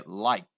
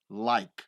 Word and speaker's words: like: morte você vai pronunciar esse e aqui ele não é pronunciado então não existe like não existe like é like like Como se você tivesse